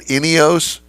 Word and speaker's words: Ineos: So did I pronounce it right? Ineos? Yes. Ineos Grenadier is the name of the vehicle.